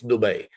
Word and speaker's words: Dubai: is from there like trust me it's Dubay just so you know and if you go on on on the online and Google it and say how do you pronounce it and it will actually write out du ba a why and to get people